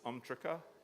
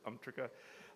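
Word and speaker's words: UMTRCA: love acronyms in the United States and we pronounce this umrika if you've ever heard umrika it's an amendment to the atomic energy act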